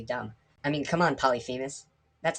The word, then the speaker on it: Polyphemus: i am going to say his name is pronounced polyphemus and if you have a problem with that